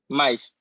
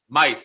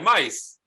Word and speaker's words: Mise: Mise. Mice. Oh, like mice.